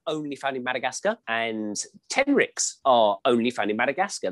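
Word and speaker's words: tenrec: My favourite animal is something called a tenric, and it's spelled T-E-N-R-E-C.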